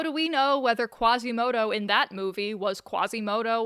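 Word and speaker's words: Quasimodo: In French, they don't pronounce Quasimoto as Quasimoto. They pronounce him as Gazimodo.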